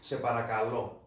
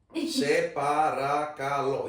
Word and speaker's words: σε παρακαλώ: In Greek, it's se parakalo. Se parakalo. It's 5 syllables.